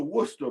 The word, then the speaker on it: Worcester: It's pron it's pronounced Worcester. It's spelled Wes Ser. It's one of those weird English pronunciations.